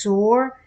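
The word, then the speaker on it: סור: 5493, taken away, as used in Daniel 11 and 12, pronounced sore, means to turn aside, to remove, leave undone, lay away.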